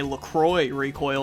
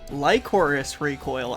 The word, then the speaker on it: Lycoris Recoil: Luckily it's only terrible because I either say Lacroix Recoil or Licorice Recoil. Lycoris Recoil actually has a fantastic first episode.